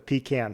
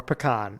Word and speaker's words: pecan: leave me the uh depending on how you pronounce it the pecan pie oh yeah okay yep you know yeah or pecan if you're Jenna or you know a lot of other people but uh yeah that'll that'll